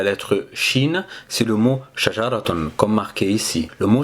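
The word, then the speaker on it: شجرة: fait on a TR quatre sons qu'on va prononcer pour produire le son shajar je répète lentement shajaraton on va essayer maintenant d'écrire la lettre Chine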